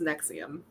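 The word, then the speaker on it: NXIVM: Nexium. Those are just letters. That is not a word. It's apparently pronounced Nexium.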